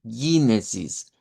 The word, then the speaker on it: Genesis: inglés y el dodch en términos de la g, que el inglés nos enseña ese sonido como pero en el dodge lo que tenemos es un sonido como de G, como la g del español. Eh, pero no vamos a decir eh g muy diferente al español, pero en el español nosotros decimos Génesis. Aquí vamos a decir Génesis. Y y esta es larga. Genesis.